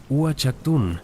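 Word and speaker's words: Uaxactún: Pero quizás el ejemplo más espectacular de arquitectura astronómica maya se encuentra en Uchaktun, pronunciado Uchaktun, un sitio en el Petén guatemalteco.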